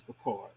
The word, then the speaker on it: Picard: is music brains because picard music brains per car is how it's pronounced now i haven't used